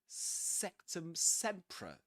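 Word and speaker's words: Sectumsempra: Sectum sea.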